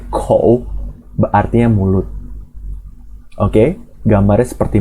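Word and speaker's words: 口: Ya, jadi sebuah Hanzi bacanya kou, artinya mulut.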